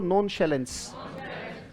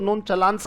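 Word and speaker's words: nonchalance: तो इंसुसियंस, ये वर्ड है, बोलो नॉन शैलेंस। नॉन ये उच्चारण है बेटा, नॉन पढ़ सकते हो, ये शैलेन है, शैलेन बोलो। वैसे चलान कह सकते हो इसको, कुछ लोग इसको नॉन चलान्स कहते हैं, नॉन चलान, पर ये उच्चारण इसका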